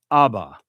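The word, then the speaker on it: אבא: And this would be pronounced aba. Aba. Modern Hebrew uses this term for father or dad.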